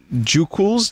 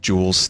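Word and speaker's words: Jooqlz: there this one's from Joo cools j oo qlz every time i have to figure out a pronounce that cuz oh it's just jules did the q is silent but it's some vine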